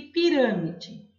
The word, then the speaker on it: pirâmide: E pirâmide é a antepenúltima sílaba que é a sílaba tônica mais forte. Eu classifico essa palavra como proparoxítona.